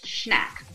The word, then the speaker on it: Schnack: I'm like, if there's a CH, I will be saying the CH, like I'm not making it silent. So it's Schnack. Schnack.